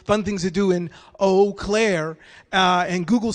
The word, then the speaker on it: Eau Claire: weird because it's like y'all took all the vowels and left out o but that's actually how you pronounce the name of the city wow okay eau claire eau claire wow that would be